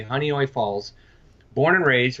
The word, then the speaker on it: Honeoye: western New York called honeoye falls it's very hard to pronounce it looks like huh neue Falls is honeoye like honey and then oi honeoye falls born and raised